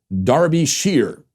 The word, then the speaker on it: Derbyshire: this county is pronounced Darby Shearer with the emphasis on the first syllable Derbyshire many thanks for